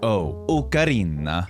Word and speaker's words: ocarina: In Italian, it is absolutely pronounced with an ocarina.